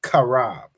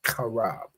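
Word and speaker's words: חרב: The Hebrew word for sword is karab. All right, CHAARAB. That's how you say sword, karab.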